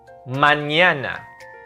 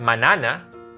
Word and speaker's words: mañana: Mañana. Not manana. With the squiggly line on top of the N, that will be mañana.